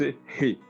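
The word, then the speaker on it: ה: ce qui est représenté en français par le H, qu'on prononce He.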